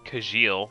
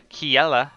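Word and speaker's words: Kjelle: Um, I believe that the way you pronounce this name is Kiela. Um, when I first played Fire Emblem Awakening, I did pronounce it Kajil because I'm just that basic. Um, but yeah, so I'm pretty sure it's pronounced Kiela.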